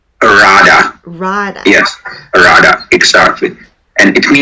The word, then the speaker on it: Rada: So generally, it's exactly spelled like that, R-A-D-A? Rada.